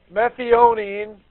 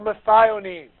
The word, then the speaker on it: methionine: Methionine or methionine. Pronounce it how you will. I'm okay with saying either one.